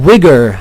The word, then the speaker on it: Uyghur: The Uyghur, as I have been told to pronounce it by my Crusader Kings comment section.